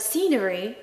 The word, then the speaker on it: scenery: The word scenery has a silent C. They'll always get you these silent letters.